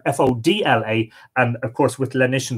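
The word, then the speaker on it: Fódla: with fuller or fuller it's spelled to your fo TLA but usually rendered fo DLA and of course with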